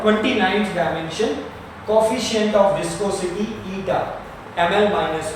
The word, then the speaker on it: eta: Pronunciation is eta, ETA, eta, and his dimension is ml minus 1 t minus 1.